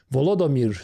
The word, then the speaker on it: Volodymyr: Volodymyr, sounds like Voldemort, out of the White House amid a blistering row over U.S.